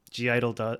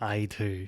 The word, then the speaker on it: (G)I-dle: in the way Idol G Idol do things I should be calling them I too because that's how it's supposed to be pronounced but um there there's